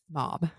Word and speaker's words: Mab: We were trying to say, I think Kate said Mabe, I said Mab, We were both wrong. and then it's Mob.